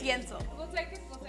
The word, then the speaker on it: Yentl: It's technically spelled like Yentle, but you know it's Yento.